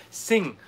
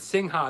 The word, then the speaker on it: Singha: green bottle gotcha again it's apparently pronounced sing okay that's crazy all right you know because i have friends in laos and i was calling it sinha and they're like what's